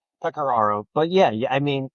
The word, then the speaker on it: Pecoraro: Pecaro.